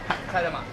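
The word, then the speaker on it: 替え玉: Oh, kaidama.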